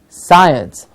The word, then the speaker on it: science: many days ago and we had done the word science and not science I am very interested in the subject called science so when he do